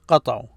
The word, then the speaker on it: قطعوا: قطعوا. No, it's قطعوا. This a is not pronounced here.